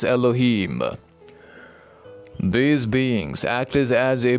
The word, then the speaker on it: Elohim: to this group, and that can be pronounced in your language terms as Elohim.